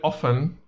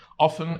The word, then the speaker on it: often: say always always often you can pronounce the word often in two different types like you can also use t you can pronounce it